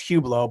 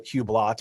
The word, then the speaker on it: Hublot: little bit about this watch is uh it's pronounced hublot but when i was on your show i pronounced it cube lots we'll tell you about why i got this